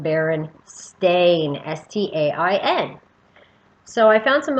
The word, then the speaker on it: Berenstain: any berenstain bears book it now is spelled like a stain b e r e n s-t-a-i-n baron stain now as a child